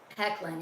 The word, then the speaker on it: Hoechlin: Hecklin, yeah. Hecklin, yeah. Even though it's spelled like what you just said.